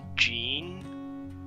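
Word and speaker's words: Djinn: any easier for you it's actually pronounced Jean oh that does now I'll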